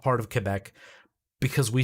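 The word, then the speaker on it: Québec: so mad at me when i would say quebec she's like it's quebec i was like okay i'm sorry quebec now i'm used to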